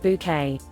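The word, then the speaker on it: Bucket: in your purse Kanye pronouncing your name bouquet obligatory the bouquet residents the lady of the house speaking spelled B uck et ha ha my uncle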